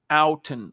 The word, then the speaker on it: Outten: have it officially, Zach, settled how to pronounce this cat's name. The new offensive coordinator of your Denver Broncos goes by the name of Justin Outten. Like, ow, that hurt.